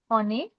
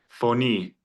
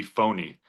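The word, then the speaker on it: φωνή: Phony. So, yeah, perfect. Phony, right? That's a good example of where the stressor is. Because if you had put it on the first syllable, it would literally be phony.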